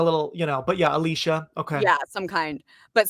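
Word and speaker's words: Elisha: pronounced Alicia cuz I was always saying Alicia.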